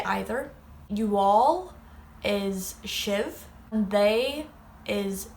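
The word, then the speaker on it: sibh: You all is shiv, and they is shade. I, you, he, she, we, you all, and they. And then that's may, tu, she, she, shin, shiv, shade.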